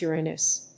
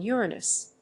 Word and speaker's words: Uranus: solution to this problem the alternative pronunciation of the name which goes Uranus and most scientists in public roles do use this pronunciation but for me Uranus